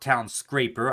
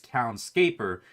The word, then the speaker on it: Townscaper: we've seen before and it's not town scraper i've been saying that wrong the whole time in fact i appear to have i appear to have said it wrong in the title even let's fix that down scaper i keep thinking town scraper like skyscraper but no it's townscaper like landscaper or something like that cobalt all right to